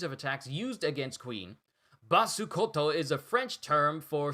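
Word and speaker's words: Basse Côte: through all of this, Basekote, Basukoto. I'm just gonna pronounce it as the Japanese enunciation has it.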